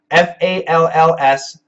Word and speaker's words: falls: LS e false false false f a l LS falls falls falls so the S and the Z pronunciation are different good morning from New